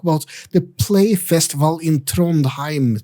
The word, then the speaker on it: Trondheim: the play festival in Trondheim. Tronheim. Uh, sorry I I went for a Norwegian pronunciation, but anyway, Tron, it's uh it's in Norway.